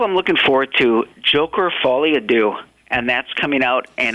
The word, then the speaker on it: Folie à Deux: Joker Folie à Deux.